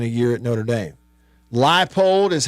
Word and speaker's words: Leipold: Leipold is how you pronounce it.